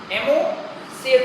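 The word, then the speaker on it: Ammocoete: है ना, एमोसिएट लार्वा, यहाँ पर ओ साइलेंट है, एमोसिएट लार्वा, एमोसिएट बोलते हैं, है ना।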